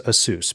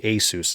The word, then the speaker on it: ASUS: I always thought it was ASUS because it's Pegasus. I was told that by people who work there, but apparently they are okay with it being ASUS now.